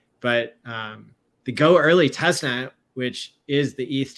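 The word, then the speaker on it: Goerli: working fine between the go early I used to pronounce it girly but it's spelled go and then weird spelling of early but um the go early testnet which is the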